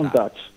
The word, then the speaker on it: Countach: Ok, allora, prima di andarci ad ascoltare il vostro brano Countach, poi non so come si pronuncia, magari mi aiuterà. Countach.